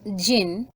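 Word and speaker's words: jinn: us now word meaning digin pronounced Jin and variously spelled as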